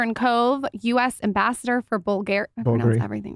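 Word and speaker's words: Bulgari: you're an investor in COD US ambassador for bulgar I pronoun everything wrong okay how do you say it bulgary bulgary jewelry I mean very that partnership um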